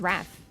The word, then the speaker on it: Raph: No, my name is not pronounced like wrath, but if you have a British accent, like it is, but like no. It's just Raph.